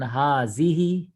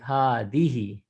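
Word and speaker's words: هذه: that's the simple answer the correct pronunciation of the letter is by sticking out your tongue your tongue is actually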